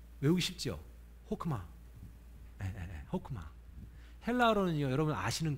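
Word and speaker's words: חכמה: 지혜라는 말이요 히브리어로 호크마라고 읽어요. 외우기 쉽죠? 호크마.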